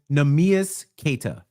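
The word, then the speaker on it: Neemias Queta: So the pronunciation is Nemias Keita.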